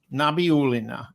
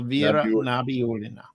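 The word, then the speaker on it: Nabiullina: Let's pronounce it. It's Nabi Pina. Nabiolina Ela Nabiolina.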